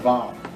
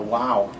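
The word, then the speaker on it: vav: looking thing all right it's called a vow all right or a wow either way uh some people call it a wow all right it says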